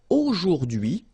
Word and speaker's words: aujourd'hui: H is not pronounced, so you only get this d'hui thing. Aujourd'hui, aujourd'hui, and it means today, okay?